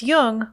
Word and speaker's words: Jung: or on tune in just be sure to pronounce Jung with a hard J so with special thanks